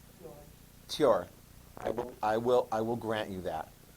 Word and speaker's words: Thor: I don't mean to sound like a know-it-all, but Thor in Nordic is actually pronounced Thor. Tjor.